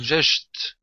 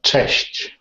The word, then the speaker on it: cześć: Am I saying just correctly or not? is Cześć. Cześć. Cześć. Yeah. Cześć. Right, like Yes. CH and oh, nice, Cześć. Oh, nice, good. So, Yes, sounds really Slavic. Cześć.